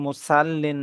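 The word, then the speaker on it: مُصَلِّين: ফাওয়াইললিল মুসাল্লিন ফাওয়াইলুল ফাওয়াইললিল ফাওয়াইললিল মুসাল্লিন মুসাল্লিন এটা যেন কোনভাবে মুসাল্লিন না হয়।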